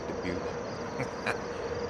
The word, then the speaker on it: Dubuque: I had to Google how to pronounce the name of this place, Dubuque.